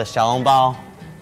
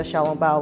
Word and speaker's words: 小笼包: The xiaolongbao.